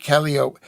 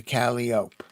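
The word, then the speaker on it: calliope: Yes, because calipo calip calopi calop but that's the way it's not spelled.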